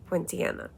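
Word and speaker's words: Pontianak: the channel that helps you learn how to pronounce things properly, it's Poinciana.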